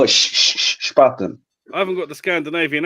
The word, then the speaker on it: Spaten: These guys have all had the Spatten, and I'm the last one to the party. You have to learn how to pronounce it, though, Al. It's not called spat. Spaten. Spatten. No, Spaten.